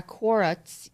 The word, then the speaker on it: Quora: There's a Quora. How do you pronounce it?